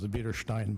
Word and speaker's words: Biederstein: And I think it is pronounced Biederstein, by the way. It's, Bieder means wide, Stein is a rock, so Wide Rock Road, if you will.